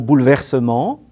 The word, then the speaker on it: bouleversements: particularité de ce mot la première syllabe féminine le ccri mais ne se prononcent pas on dit bouleversement mais on écrit bouleversements cette distinction entre si